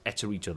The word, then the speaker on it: Eterito: He is Eterito. That's how we pronounce the name.